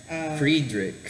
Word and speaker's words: Friedrich: How will you pronounce your first name again? Friedrich. Friedrich Nietzsche. Nietzsche. So, if you are into philosophy and if you want to know more about this guy Friedrich Nietzsche, this is the right place, and if